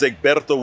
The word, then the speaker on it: Egberto: Listen, my name is Egberto.